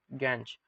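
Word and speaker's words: gangue: Cleaning equation that is removing the गैंज। तो ये गैंज particles क्या होते हैं? बेसिकली ये गैंज पार्टिकल्स या गैंग पार्टिकल्स, ठीक है, इनकी अलग अलग प्रोनाउंसिएशंस हैं।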